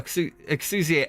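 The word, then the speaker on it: Exusiai: Yes, I call Exusia Exia. It was easy to pronounce and easy to remember. Give me a break. No breaks for you. No breaks for you. It is Exusia. I'm kidding.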